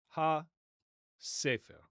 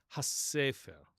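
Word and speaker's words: הספר: So, it would have been pronounced ha sefer. ha sefer Okay? We have that gemination or doubling in Arabic today, but modern Hebrew does not double or geminate letters.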